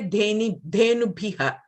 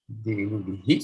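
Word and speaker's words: धेनुभिः: ha, you will say dhenubhiha. But visargaha is an expelling of breath on an open mouth. Your mouth was open in the E shape when you did bhi. So the visargaha will be bhihi.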